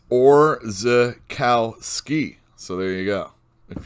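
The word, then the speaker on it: Orzechowski: itch there you go and that one letterer or zakooski his name is orza kal ski so there you go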